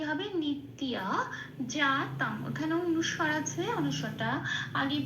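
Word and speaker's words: নিত্যজাতং: জল একটু লাল দিয়েছি কারণ জফলাকে সংস্কৃততে হস প্লাস অন্তস্থ ই বলে উচ্চারণ করে এক নম্বরে তালিকাভুক্ত করে দেওয়া আছে। এইবার আমি তফলা দিয়েছি কারণ উপরের প্রাকৃতি হস প্লাস অন্তস্থ লিখে দিয়েছি। এবার এই যেটা লেখা আছে সেটা ত এর সাথে পড়ে দিতে হবে। ত এর সাথে হসই প্লাস অন্তস্থ পড়ে দিলে যে উচ্চারণটা বেরিয়ে আসে ত হসই অন্তস্থ। তিয়। ঠিক এই তিয় উচ্চারণটা এখানে করতে হবে।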